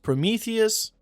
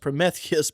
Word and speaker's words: Prometheus: I always thought it was pronounced Prometheus. I've never heard it pronounced Promethius before, but that is